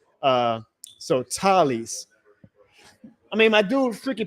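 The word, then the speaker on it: Taliese: So Tylees. I mean, my dude Freaky Peasy on Twitter, he sent me the pronunciation guy earlier. It's it's Talicia.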